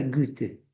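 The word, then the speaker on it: Goethe: El capítulo uno se llama la transformación de gete. Me explicaban que en alemán se pronuncia Gute.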